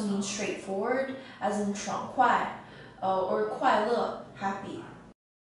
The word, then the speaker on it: 快: this character is pronounced as quiet quiet and as an adjective it means fast